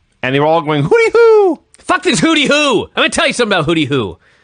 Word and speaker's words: Hooty-Hoo: Hooty-hoo. Okay. But they pronounce it hooty-hoo.